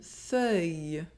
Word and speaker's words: feuille: Un fauteuil A chair The letters “-EUILL-” inside a word are also pronounced . Une feuille A leaf Let’s practice together: